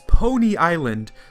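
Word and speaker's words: Poni Island: final island this is pony island or pani island i'm pronouncing it phonetically it looks like pony island even though that sounds like pony like a horse so i'm wandering around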